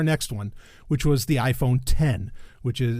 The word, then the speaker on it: iPhone X: one which was the iPhone 10 which is it's spelled iPhone x but it's iPhone 10 kind of like you know what used to be OS 10 how it look like OSX and whatever anyway um